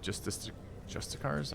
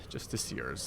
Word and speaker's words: justiciars: For when an army of dark justicars, I always forget how to say this, shall rise, justiciars, that's how they say it, and join battle against those who shun or embrace.